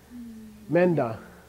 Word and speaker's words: Menda: How do you pronounce it? Menda. Menda. Okay? It's me, nda. Okay? Me, nda. Crush them together. Menda.